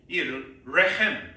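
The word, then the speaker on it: רחם: 그다음에 긍휼의 여김은 라함인데 라함이이 레헴 레햄이라는 알로 발음하셔야 됩니다.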